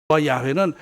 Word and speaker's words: 야훼: 자료를 포로 해서 알아보니까 예 여호와 가리고 야외 야외 발음이 야외가 맞는 것이다 그래야지 여호와 라고 우리가 쓰기도